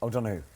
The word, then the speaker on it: O'Donoghue: Come on, say it like O'Donoghue. Oh, it's so much better.